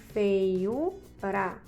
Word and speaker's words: feiura: Feiura. Então, U é a sílaba mais tônica, é a mais forte, logo essa palavra é uma paroxítona.